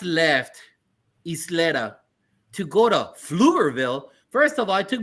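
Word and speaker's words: Pflugerville: How did you get involved with Dallas at Flugerville? Yes. So flutterville for anyone that's hearing it really starts with a PF and so the P is silent.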